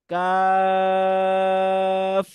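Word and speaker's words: ق: হয়েছে নেক্সট আলফাবেটটি দেখো কাফ কাফ এটা তিন সময় টান হবে কাফ কাফ লাস্টে এফ এর উচ্চারণ ফশ আরেকবার বল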